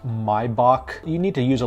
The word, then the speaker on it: Maybach: thing I want to address is it's not pronounced Maybach it's pronounced my Bach you need to use a little bit more